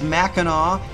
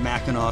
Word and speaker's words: Mackinac: have the aw on mackinaw city the difference is simple it was french that occupied early on the islands and the uh sea